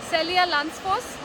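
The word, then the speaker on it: Seljalandsfoss: Celia Lansfoss. Celia Lansfoss. I am pronouncing it right? Yes. Okay, so the name of this waterfall is Celia Lansfoss.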